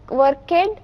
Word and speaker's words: worked: Worked. Yes. Ed you will have to add. but the pronunciation is worked. Okay, she worked. So work becomes worked. W-O-R-K-E-D. It is pronounced as worked.